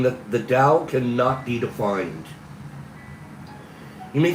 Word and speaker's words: Tao: The Chinese character for Dao is pronounced d o w dao. It's spelled t ao.